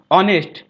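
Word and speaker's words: honest: আগে এন বসে কিন্তু এখানে ভয়েল না কিন্তু অনেস্ট এইচ এর উচ্চারণটা হয় না দশ এটা ব্যতিক্রম এখানে এন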